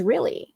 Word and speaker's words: Realy: But my last name is really. It's really but it's one L. You know it's not two L's. It's it's one L. but it's pronounced really.